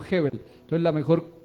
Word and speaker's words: Gebel: él dice dice que no se dice goebbels sino hebbel entonces la mejor pronunciación